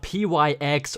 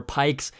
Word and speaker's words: Pyx: first tweak is called pyx or pikes however you want to pronounce it but that's what it